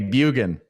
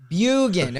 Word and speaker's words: Bjugan: Am I saying it right, Bjugan? It's Norwegian. Drop the J. Bjugan. Bjugan.